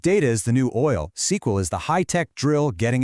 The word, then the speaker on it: SQL: Well, you call SQL. Pronounced SQL.